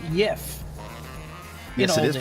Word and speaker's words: Jeff: Stunt Granny would like to mention that it's pronounced Yif.